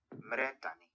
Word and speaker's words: Mmere Dane: Olha, como eles dizem aqui que se pronuncia isso. Mredani.